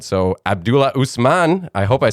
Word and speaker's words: Abdulla Usman: eager to learn more as i said so abdullah usman i hope i said it right yeah yeah